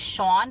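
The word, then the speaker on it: Shon: lawman on the inside his name is Shawn but it's spelled Sh o n Shawn Hopwood oh my god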